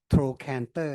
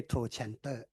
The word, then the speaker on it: trochanter: นาทีนะครับจากที่ดูมาตั้งแต่ตอนเช้านะครับมี common mistake ที่ไม่ระบุชื่อคนที่เกี่ยวข้องนะขออภัยนะฮะเป็นลักษณะที่เราจะได้ปรับปรุงการออกเสียง trochanter นะไม่ใช่ trochanter คุณไปเปิดดูเลยนะมันจะเขียนตัว K นะไม่ใช่ trochanter นั้นฟังแล้วเนี่ยมีคนพูดผิดก็ไม่เป็นไรแต่ก็ถ้าหากว่าพวกเราที่อยู่ใน trauma ก็ผม address